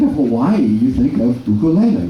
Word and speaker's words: ukulele: It is u, ku, le. Ukulele. It's not ukulele. Ukulele. No. Uku. Yeah, now when we do our ukulele class and you go in, the Hawaiians are going to test you. Because everybody pronounces it on the west. Yeah, Westerns pronounce it ukulele, but it's not.